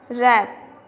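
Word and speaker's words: wrap: And the next one rap, here W is silent.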